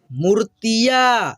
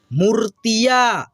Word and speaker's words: मूर्तिया: खटियां, बांसुरी, महंगा, गुत्थिया, मूर्तिया। ये जो रेफ की मात्रा दिख रहा है आपको, त पे लगा है, त से पहले आधा र का उच्चारण इसका होता है, ठीक है। मूर्तिया, चिड़िया, खाऊंगा, पहुंच, झाड़िया,